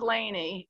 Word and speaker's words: Léni: i but i um so laney it's pronounced laney and it's got an accent on e it's what i grew